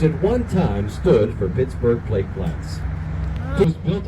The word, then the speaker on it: Pittsburgh: And so he would have pronounced it Pittsboro. So the village of Pittsboro was chartered in 1758. We don't know exactly how long it took us as Pittsburghers to smash that together from 3 syllables into 2, but of course you know it today, and love it today, as Pittsburgh.